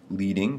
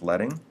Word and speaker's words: leading: Likewise, we can adjust not only the space between letters, but we can also adjust something called leading, often mispronounced as leading, but it's leading.